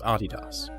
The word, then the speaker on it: Adidas: And by the way, that is indeed how you pronounce Adidas.